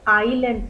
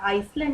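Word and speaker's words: island: इसको आइलैंड पढ़ते हैं, एस इसमें साइलेंट होता, आइसलैंड नहीं पढ़ेंगे।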